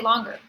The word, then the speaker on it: longer: Okay, and again, clap and say longer. Longer. So the weird thing is it's not ger, it's longer is really what it should sound like.